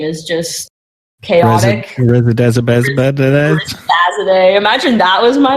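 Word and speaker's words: Rezazadeh: Rezzazade. Imagine that was my name. Rezzazade? Yeah, Rezzazade. Is that how you pronounce it? Yep. Rezzazade.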